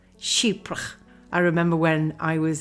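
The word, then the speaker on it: Chypre: And if you want to know how to say it, just that imagine the word sheep and then put an accent on it. Sheepra. Sheepra.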